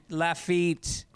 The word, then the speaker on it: Lafayette: just a heads up people in lafayette louisiana pronounce it laugh laugh la feet tacoma pronounce it lafayette not lafayette okay well speaking of